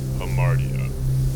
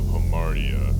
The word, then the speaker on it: hamartia: The term tragic flaw translates from the Greek word pronounced hamartia, but it more literally means to err or missing the mark.